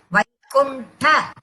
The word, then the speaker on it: वैकुण्ठ: ஒன்னு நல்லா புரிஞ்சுக்கணும். வைகு இல்ல வைகு, வைகுண்ட அப்படிதான் ப்ரொனவுன்ஸ் பண்ணணும்.